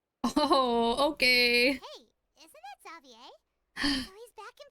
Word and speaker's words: Xavier: okay hey isn't that zavier he's back in F now they say it like zavier not like Xavier zavier okay slay